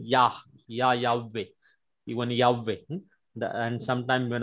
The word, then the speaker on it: Yahweh: they mixed it together and the name is Yehovah. In Hindi Bible it is given Yehovah, but it is completely wrong name. The correct pronunciation of the name is Yahweh is the very accurate and the correct pronunciation